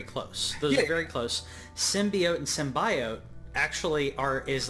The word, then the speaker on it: symbiote: Like with a softer O.